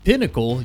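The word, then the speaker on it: Poncle: First of all, the game is being developed by Auroch Digital, the creators of Boltgun, and Pinnacle, yes, that's how that's pronounced, the creators of Vampire Survivors, which is basically the king of the survivor genre.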